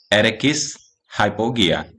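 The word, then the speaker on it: Arachis hypogaea: सो तो हमने जैसा जाना कि इसका botanical name एरेकिस हाइपोगिया, spelling ARACHISHYPOGAEA, हाइपोगिया।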